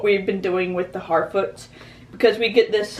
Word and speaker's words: Harfoot: It's not Halffoot, it's Harfoot, the Harfoots. I'm interested to see, because I really do love this kind of, what we've been doing with the Harfoots, because we get this,